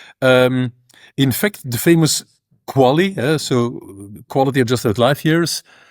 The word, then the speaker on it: QALY: Um, in fact, the famous quali, so quality adjusted life years, uh, we pronounce it as the quali.